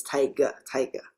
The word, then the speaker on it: Taiga: It's kind of a transliterated from a Chinese name actually.